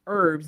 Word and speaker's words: herbs: And we say herbs, and we know herbs is spelled with an H, H-E-R-B. Right. But we say it E-R-B, herbs, and we put the H as silent.